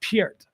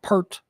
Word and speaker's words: Peart: He once said that it's actually pronounced Peart. Peart. Like Piert. People call him Pert, whatever.